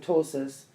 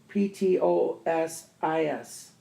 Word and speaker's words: ptosis: i ATR IST psychiatrist PT pronunciation t medical term ptosis pto s is ptosis the following are